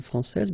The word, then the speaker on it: français: Okay, so we've got a little bit the same situation here as we had previously with français and françaises, because we don't pronounce the final S in français, and it's exactly the same thing.